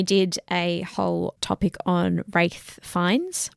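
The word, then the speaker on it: Ralph Fiennes: a whole topic on wraith fines Ralph fi is what people say his name as the guy who played Voldemort but it's wraith fines he is very well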